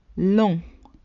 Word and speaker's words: long: Long, long. The G is silent in the masculine form.